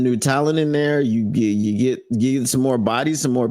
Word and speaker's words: Xie: Sterling, I think is G. It's XIE.